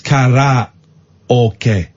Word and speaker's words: karaoke: It's not karaoke, it's karaoke.